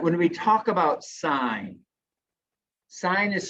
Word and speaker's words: sine: when we talk about sign sign is spelled s-i-n-e but it's abbreviated s-i-n on your calculator it's abbreviated s i n we don't pronounce that sin we don't say cos